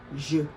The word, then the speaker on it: je: Please, it's not J or J or anything. It's pronounced je.